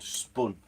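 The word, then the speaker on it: Spön: But yeah, there's a book called Spun. It's spelled Spun, S-P-O-N. The O is like a Swedish O with 2 dots on top of it.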